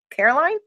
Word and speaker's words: Caroline: who played Caroline Caroline Caroline I want to say it like North Carolina but it's with the e at the end show me images of